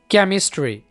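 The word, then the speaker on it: chemistry: अब यहाँ पर देखें, केमिस्ट्री, अब यहाँ पर एच से पहले क्या आ रहा है? सी आ रहा है, साइलेंट है।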